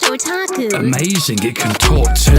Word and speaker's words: otaku: Well, that's pronounced otaku.